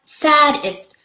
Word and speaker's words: sadist: That's sadist, that's S-A-D-I-S-T, not S-A-D-D-E-S-T, you know, Charles Wallace said and giggled again. Lots of people don't pronounce it correctly.